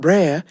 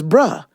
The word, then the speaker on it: Brer: It's not Brer, it's Bruh Rabbit.